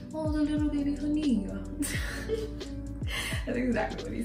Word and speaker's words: Haniyyah: knew what Hanaya meant, which is actually pronounced Hania in the traditionally, like if I were to go to a Middle Eastern country, they would acknowledge me as Hania, not Hanaya, because that's how they pronounce it.